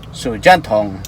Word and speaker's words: 手电筒: Ang pagka-pronounce is Sujanthong.